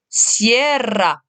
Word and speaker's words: sierra: Deuxième mot, qui signifie la chaîne de montagne, la sierra. La sierra. Hein, j'insiste ici sur le R.